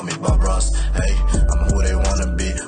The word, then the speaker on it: Aitch: You know, y'all say it's like the letter H, but you just pronounce it H. But I hope I'm finally correct on saying that name, bro. Like, H and not like itch or hatch or hatch.